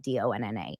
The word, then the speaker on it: Dana: You know how my name is spelled DANA, but pronounced like DONNA.